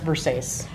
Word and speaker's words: Versace: It's actually pronounced Versace.